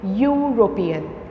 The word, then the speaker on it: European: You have to say European, and when you will check it, because you have used your tongue inside your mouth, you will say a European.